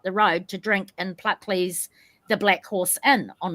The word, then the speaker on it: Pluckley: Pluckley.